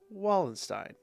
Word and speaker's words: Wallenstein: And her last name is Wallenstein. But in German, you'd pronounce that with a V.